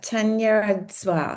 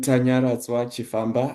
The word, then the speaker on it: Tanya: You pronounce it very you pronounce it very very well. Thank you very much Sandra. I am Tanya.